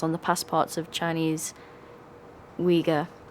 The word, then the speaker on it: Uyghur: The Chinese government has put harsh travel limitations and travel bans on the passports of Chinese Uyghur. Is that how you say it? Yeah, Uyghur. That is correct.